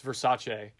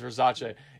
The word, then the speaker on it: Versace: And then the guy she fucked basically goes, it's Versace. It's Versace. Indicating, those guys were making fun of me because I didn't know how to pronounce this word correctly.